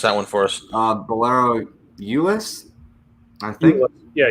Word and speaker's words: Euless: We need Jeff Riggles to pronounce that one for us. Bolero, Euless, I think. Yeah, Euless, Texas.